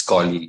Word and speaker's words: colleague: thinking, People but usually say colleague, but that is the wrong pronunciation. It's colleague.